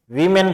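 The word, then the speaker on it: woman: Villagers गांव वाले थे, वीमेन थी। अब एक देखो इसमें ध्यान दो, WMAN, वुमेन और वीमेन। जब ये सिंगुलर होता है तो वुमेन होता है, जब ये प्लूरल EN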